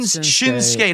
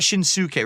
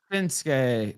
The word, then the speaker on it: Shinsuke: Shin Nakamura it's it's not Shins It's Shin shinsuke not shinuk right you don't pronounce it right that way okay no it's shinsuke Nakamura and it's osar of course ASA not